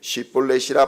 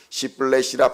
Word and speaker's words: 십볼렛: 아니라 하면 그에게 이르기를 십볼렛이라 발음하라 하여 에브라임 사람이 그렇게 바로 말하지 못하고 시플레이라 발음하면 길르앗 사람이 곧 그를 잡아서 요단강 나루턱에서 죽였더라.